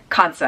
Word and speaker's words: Kansa: This is a Kansa wand, or Kasa, I believe is the appropriate pronunciation, but most Westerners that I hear talk about this say Kansa, and even some Indians that I hear talk about it pronounce it Kansa.